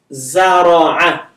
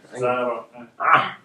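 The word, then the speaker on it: زرع: Zara'a. Zara'a. That's ayn. Zara'a. It's kind of thick A from your throat.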